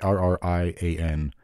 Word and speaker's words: Arrian: Arrian. I don't want to say Arian because I'm pretty sure that's not right.